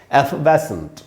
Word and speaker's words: effervescent: इसको पढ़ेंगे कैसे, इसमें जो स्ट्रेस है वो आपको जरूर सीखना चाहिए दोस्तों। एफवेसेंट, एफवेसेंट, इस पर ये जो वै में जो ए है यहीं पर स्ट्रेस है। एक्चुअली एक सेकेंडरी स्ट्रेस यहाँ पर भी है, ए पर भी।